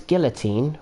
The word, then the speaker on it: guillotine: get you, Chris, because why do Americans pronounce guillotine with a Mexican double L? Why is it a guillotine? Because that's not how the word's supposed to be pronounced, is it? I'm sure the word is supposed to be pronounced with the double L sound.